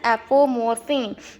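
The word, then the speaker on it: apomorphine: फिर है एपोमोर्फिन, इट is pronounced as एपोमोर्फिन।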